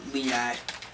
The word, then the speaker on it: LEAD: And Liad basically spells out lead, but we pronounce it Liad.